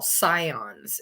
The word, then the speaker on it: scion: Usually between the ages of 10 to 18, I call those people what we would call scions. It's spelled S-C-I-O-N.